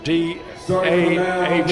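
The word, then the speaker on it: Dahl: Uh Declan Dah spells his last name D A H L pronounced Dah.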